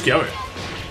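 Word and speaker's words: Cabba: Sé que pone Kaba, pero la pronunciación es Kyabe. En el anime es Kyabe, tío.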